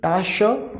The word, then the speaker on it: Tasche: TA, like TA is ta, SCH as we have just discussed in rules for CH, SCH is sh, and see E is coming at the end, it means we will pronounce it as sh, okay, at the end, okay. So overall pronunciation is tasha, tasha, tasha means bag, okay.